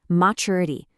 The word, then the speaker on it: maturity: Maturity. Notice that slight ch sound Americans often sneak into the middle of maturity, maturity.